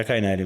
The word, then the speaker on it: Cainelli: que nada mais aqui Roberto cainelli é assim que pronuncia seu nome né mas tem gente que chama ali mas a cainele mesmo vamos vamos maturar esse